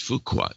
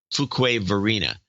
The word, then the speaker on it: Fuquay-Varina: Or Fuqua. No, it's Fuqua. Fuquay. It's got to be Fuquay. Fuquay-Varina.